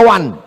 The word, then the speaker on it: one: Tulisan nggak sesuai dengan bacaan. One dibaca wan.